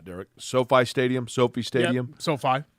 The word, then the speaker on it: SoFi: and I don't know if I'm going to pronounce it correctly or not, Derek, Sophie Stadium.